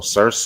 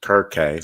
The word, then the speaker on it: Circe: So Circe, it says right here, goddess Circe, sometimes pronounced Kirke, so C-I-R-K-E.